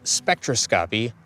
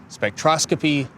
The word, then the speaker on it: spectroscopy: We have two mispronunciations throughout the video. I use the terms spectroscopy ↓ and geodesic, they're actually supposed to be pronounced spec-tros-kuh-pee and gee-uh-des-ik, respectively.